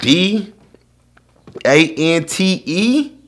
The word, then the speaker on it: Dante: at 30 at least if you see a black person and the name that's spelled d a-n-t-e how you not know that's dante bro how you not know